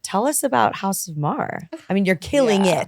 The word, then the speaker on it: Maher: Our last name famously is Mar. Rhymes with star. People love saying Mayer or Meyer. Yeah. None of those. It's Mar.